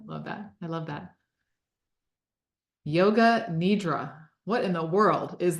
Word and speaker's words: Yoga Nidra: that I love that Yoga Nidra what in the world is that did I even say it right you did yeah that's close enough that's how I say it it's um it is